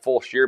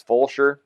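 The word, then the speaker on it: Fulshear: I said it wrong it looks like full Shear but I guess it's full sure whatever full Shear full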